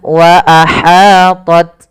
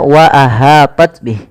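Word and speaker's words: وأحاطت: Kemudian wa ahat bih. Hati-hati dalam melafalkan ha kecil jangan dibaca wa ahah bih. Tapi wa ahat wa ahat ya.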